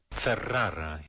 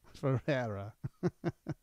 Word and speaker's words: Ferrara: Ferrara. Ferrara. But that's how it's pronounced.